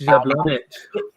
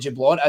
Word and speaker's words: Jablonec: It's Jablonec. I'm getting better at pronouncing that as the night's going on, by the way, Gog.